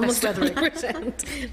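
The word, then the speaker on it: Beswetherick: to the meeting Natalie Bez weather Wick did I pronounce that correct Almost 100% best weather what what what is the correct pronunciation it's just as it sounds best weather R okay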